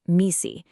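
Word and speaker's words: MECE: It's pronounced misi and it is the absolute foundation for clear thinking.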